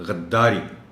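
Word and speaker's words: غدّاری: رہا ہے۔ معاونت۔ اجرا، غداری، دال پر پیش ہے، دال پر شد ہے، معاف چاہتا ہوں، غداری۔ مقدمہ، اس لفظ کو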